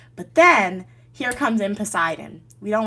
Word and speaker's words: Poseidon: Here comes Poseidon, okay? I'm saying his name wrong. Poseidon, right? That's his name.